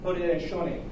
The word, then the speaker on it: Haudenosaunee: Haudenosaunee. Yeah, I keep forgetting the SAU is an SHO, Confederacy.